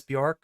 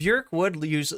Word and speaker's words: Björk: Has anybody heard the song Pluto by Björk, or the artist you may know as Björk, whose name is actually pronounced in a way that rhymes with jerk rather than dork?